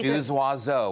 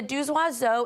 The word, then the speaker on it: Deux Oiseaux: And the Deux Oiseaux is actually a phonetic pronunciation play on two birds in French.